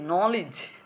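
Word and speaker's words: knowledge: এখন বলো তো এই নলেজ, এটা কিন্তু এখানে কি বলছে? এখানে কিন্তু এটার উচ্চারণ হচ্ছে লিজ, নলেজ, নট নলেজ।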